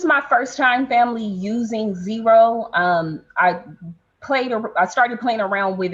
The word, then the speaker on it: Xero: So I'm in at Zero. That's spelled Xero.